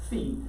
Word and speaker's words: phi: the greeks liked philosophy that sound is actually the fee find the sine of phi the cosine of v